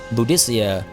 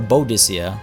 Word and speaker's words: Boadicea: if I recall correctly Boadicea or Boadicea RS pronounced is from i sania